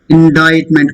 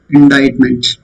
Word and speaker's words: indictment: Indictment. Court indicted him. అంటే ఒక విషయంలో మనం తప్పు పట్టడం అన్నట్టు. Court indicted. C silent. Indictment.